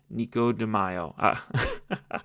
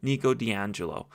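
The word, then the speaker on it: Nico di Angelo: The issue is that in the third book, we are introduced to the Amazon and Nikico Deio. I said his name wrong. My apologies. Nico D'Angelo.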